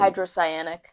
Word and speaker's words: hydrocyanic: How do you pronounce that? Or They've tested. hydrocyanic.